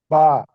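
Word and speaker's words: ب: বা না হরফে হুজুর। মাখরাজ হচ্ছে দুই ঠোঁটের ভিজা অংশ থেকে বা উচ্চারণ করতে হবে।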